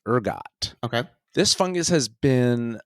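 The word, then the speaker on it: ergot: the ride okay s very good and uh it's spelled e r g o t Urgot okay this fungus has been known all the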